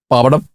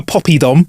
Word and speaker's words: poppadom: Poppadom. Yeah, I'll have a poppy dom. No, mate, there's no Y in it.